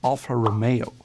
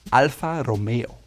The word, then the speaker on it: Alfa Romeo: The first brand is Alfa Romeo, as Americans might say, but the proper way to say it is Alfa Romeo. You can see the R is rolled in the front of the tongue, Romeo, Alfa Romeo. And it's not Alfa Romeo, it's Alfa Romeo.